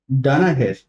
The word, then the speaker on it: Danaher: I think, and You have worked in Danaher. yes, sir. Am I pronouncing it correctly?